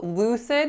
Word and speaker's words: lucid: it makes sense so lucid has two syllables the first one is Lou so the trick with Lou is that vowel it's not a it's not a pure vowel it's moving Lou Lou and then the second syllable is CID so Lex a CID lucid the next word is